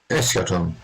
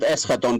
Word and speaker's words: Eschaton: Eschaton. Yeah. Eschaton. I do. And Kostas. I pronounce it Eschaton because it's Greek, so it's like.